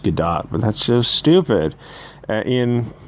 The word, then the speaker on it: Gadot: sell that is gal gadot i know it's pronounced gadot but that's just stupid in one of the